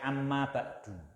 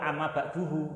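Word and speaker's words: أما بعد: Kalau diucapkan apa? Amma ba'dahu. Ya kan, amma ba'dahu gitu. Jangan separuh amma ba'duhu. Nah, itu keliru. Dan amma ba'duhu. Nah, itu ya kan, enggak bisa amma ba'duhu. Nah, kalau ada domirnya ya amma ba'dahu, kalau domirnya enggak diucapkan amma ba'du gitu ya, itu.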